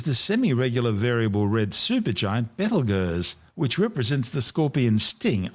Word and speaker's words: Betelgeuse: Currently known as Betelgeuse, and commonly referred to by the public as Betelgeuse, don't say it 3 times, the names are both tortured mispronunciations of the original Arabic name Ibtal Yauza, meaning the hand of